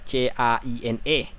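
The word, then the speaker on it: Caine: Joker love you 27 Michael Kaini Kaini dibacanya qne Negeri sama Hitler dalam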